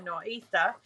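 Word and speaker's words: nor'easter: up the eastern seaboard what we call a nor easter or no ether that's how they say it around here norita um and we are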